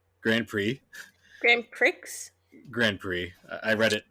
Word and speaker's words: Grand Prix: I also got F1 grand Pricks Grand Prix Grand Pricks Grand Prix I read it I read it phonetically not how it's actually pronounced um and then I